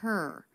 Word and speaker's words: her: The word her, she doesn't drop the H, although that is a common reduction. Started her own magazine. You might hear that. She doesn't do that though. She pronounces a light H sound, even though it's unstressed.